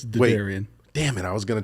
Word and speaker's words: Derderian: do I pronounce your last name because I butchered Jason PIAA I still butcher his last name so it's Daran damn it I was going to try and